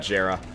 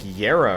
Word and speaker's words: Jera: actually you know what it's pronounced like yera or something I forgot that but it's uh it's an actually it's pronounced uh J with a Y which is interesting ooh